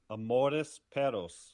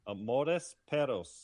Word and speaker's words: Amores Perros: I am going to How you pronounce it? Yes. How did you How are you saying it? Amore Peros. There you go. Say it again. That's good. Amore Peros.